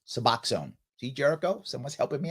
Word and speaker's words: Suboxone: It's pronounced Suboxone. Thank you, Chad. Suboxone. Thank you. I will now say it correctly. Suboxone. See, Jericho? Someone's helping me out there. Suboxone.